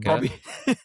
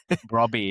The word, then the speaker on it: Brobbey: striker Bobby. Brobbey, yeah, Brobbey Yeah. again, mispronouncing him again.